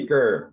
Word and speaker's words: Seker: Seeker, like I'm seeking wisdom in life.